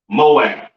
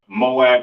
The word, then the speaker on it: Moab: Next we have Moab, which today would be the Chinese people or the branches of Asians that come from Chinese people. Pronounced Mawa'aba. All right. Moab or Mawa'aba, Assyrian over here, all right?